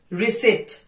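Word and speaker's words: receipt: will start from P रिसिप्ट सबसे important word है इसमें पी का साइलेंट होना आप सोचेंगे रिसिप्ट बोलते आए हैं हम लोग बट रिसिप्ट is completely wrong word रिसी रिसी now silent letter C muscle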